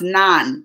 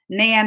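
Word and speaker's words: naan: Nan is pronounced non. Non. It's not like we can do either way. Potato, patata. Nan or non.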